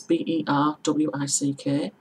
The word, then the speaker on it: Berwick: is in Warwickshire, and those are both spelled like Berwick is B-E-R-W-I-C-K, Warwick is W-A-R-W-I-C-K. So it's pronounced Berwick, Warwick. So it's pronounced like it's a double R, not an R W.